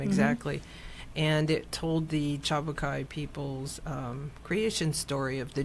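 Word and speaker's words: Tjapukai: And this was not Cairns, not Cairns, but K-A-I. It's called the Chabukai Cultural Park. It's spelled T-J-A-B-U-K-A-I, I think.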